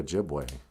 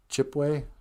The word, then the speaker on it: Ojibwe: That's just a white man not being able to say Ojibwe. You know, we're the Ojibways. Some people would even spell Ojibwe with a wa. Ojibwas. You know. But okay, so they couldn't say Ojibwe. They just said Chipwe or Ojibwe.